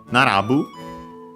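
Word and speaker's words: 並ぶ: Uh but yeah then we have Nandu from Narabu which I think uh it was um an accent. Yes it is.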